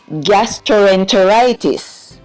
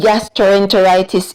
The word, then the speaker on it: gastroenteritis: everyone, our word of the day is gastroenteritis. Say the word. Gastroenteritis. Good job. The word gastroenteritis in syllables are g-as, gas, tr-o, tro, n, t-er, walking together, say t-er, ter, long I sound, I, t-is, tis.